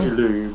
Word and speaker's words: Chicxulub: Chicxulub, I looked up the pronunciation.